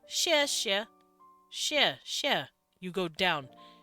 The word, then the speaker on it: 谢谢: As X-I-E, X-I-E. And we say 谢谢. That's how we pronounce this.